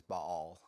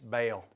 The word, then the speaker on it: Baal: I believe the correct pronunciation is Baal. Baal? In Arkansas where I grew up, it's Bale. Bale.